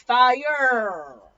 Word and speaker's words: Führer: In German, the Führer is the word for leader, and the Führer was what Germans called Hitler. You pronounce it like this, Fire.